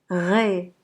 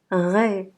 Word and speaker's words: raie: AI se prononce E. E. Ré. Ré, c'est un poisson qui s'appelle la raie.